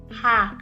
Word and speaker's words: H: Ha. The long A alphabet, which is the alphabet A. So this one is alphabet H, which is pronounced as Ha. Ha.